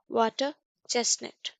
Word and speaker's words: water chestnut: आर क्या है silent है. वाटर चेस्टनट, वाटर चेस्टनट.